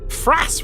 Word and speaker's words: Fras: Fras rhymes with ass.